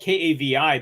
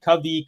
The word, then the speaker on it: Kavi: name is it's spelled k-a-v-i but it's pronounced or kavi which is more like a kuvi but in Hindi it's